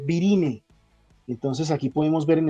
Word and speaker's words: virinae: La A tampoco suena, se escribe virinae, se lee virine.